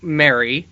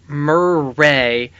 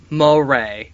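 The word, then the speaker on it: Merei: you jason and he gave us the proper pronunciation of who i was calling mary yeah and who how were you what were you calling her mirai maybe yeah i think you're closer for sure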